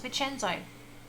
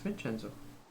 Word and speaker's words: Vincenzo: me go and ask vicenza see he doesn't know how to say it either it's vincenzo anthony he knows more about